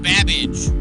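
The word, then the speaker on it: Babbage: no problem your buzzer the letter B is in babage which is something that rhymes with cabbage 20 seconds oh 20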